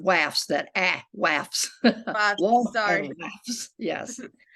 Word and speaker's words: WAFS: the the wasp and the waffs yes it's pronounced wafz that act laughs yes okay the wife's